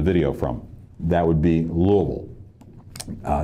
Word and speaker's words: Louisville: from that would be Louisville uh not louville but Louisville you just forget the S okay it's Louisville I